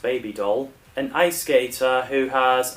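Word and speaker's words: Bibi Dahl: Yeah, that's the character's name spelling, but it's pronounced baby doll.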